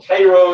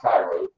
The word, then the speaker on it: Cairo: this so he's going to come down from Cairo Illinois that's how you pronounce that not Cairo and he's going to be given a command